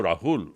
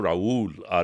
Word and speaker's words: রাহুল: তো ওখানে যারাই গেছে, আমার নাম তো রাহুল, ওইটাকে প্রোনাউন্স করতো রাউল, RAUL, ওরা মেক্সিকান ভাবতো।